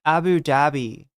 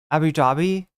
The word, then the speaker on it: Abu Dhabi: Chat, it's Abu Dhabi. Abu Dhabi? Am I pronouncing it wrong?